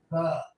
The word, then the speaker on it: pho: Mike says it's pronounced pho.